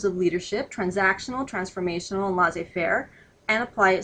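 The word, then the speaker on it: laissez-faire: French is not good but that is is pronounced L Fair uh L Fair form of leadership is really not much leadership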